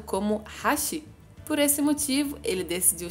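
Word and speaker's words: 八: E para ele, aquilo se parecia com a letra japonesa que representava o número 8, que em japonês é pronunciado como Hashi.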